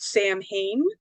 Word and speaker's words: Samhain: own personal pet peeve, a lot of people will pronounce it, if you're not a witch or into any of that stuff, because it looks like it's spelled Sam Hain, but it's actually pronounced Samhain.